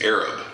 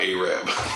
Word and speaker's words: Arab: It's Arab, not Arab.